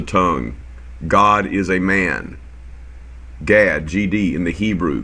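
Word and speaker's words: גד: God is a man Gad GD in the Hebrew Gad means good luck and it's pronounced God in Hebrew okay here's surum class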